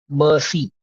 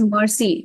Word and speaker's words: merci: So you don't say it Uh, as mercy, not in the English Merci.